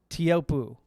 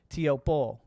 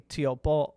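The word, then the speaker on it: Teahupo'o: When I did the interview with Rue Hill, I said Teahupoo. And then what I was correct to say, Teahupoo. And I think it's actually Teahupoo, or there's a little apostrophe in there.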